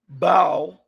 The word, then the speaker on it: bow: Pronounced bow b a u rhyming with cow refers to the act